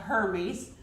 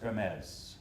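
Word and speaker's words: Hermès: to pronounce it but it's a ripoff of her read oh that's unfortunate and it's pronounced her meds well thank you for telling me how to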